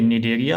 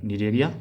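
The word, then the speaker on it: Cnidaria: देखिए निडेरिया और टीनोफोरा दोनों में सी साइलेंट है, कंफ्यूज मत कीजिएगा, निडेरिया और टीनोफोरा।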